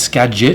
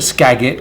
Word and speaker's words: Skagit: ones line called a Skagit all right it's Skagit I just want to get your pronunciation right don't call it scag it cuz you go to Washington you're gonna get